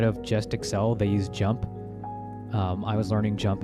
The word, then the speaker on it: JMP: recommend learning jump JMP it's just pronounced jump you get that on